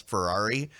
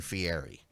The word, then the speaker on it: Ferrari: no that's exactly how W Scott is one can't pronounce Ferrari so he kept saying Fieri so that is what